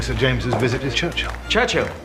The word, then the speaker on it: Churchill: James's visit to Churchill Churchill that's how you say it all together like that I'd heard church and Hill but couldn't find either